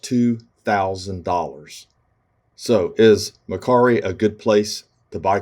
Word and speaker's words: Mercari: started so this is mccary okay that's how we say it in english it might be pronounced another way but the bottom line